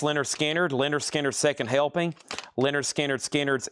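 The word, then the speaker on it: Lynyrd Skynyrd: Pronounce Leonard Skard. Leonard Skinner Second helping.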